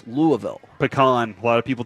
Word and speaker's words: Louisville: and they were like well Louisville takes the lead and I was like that's how you say it that's all you how you say it and then you'll talk to people and they're like no it's louville pean a lot of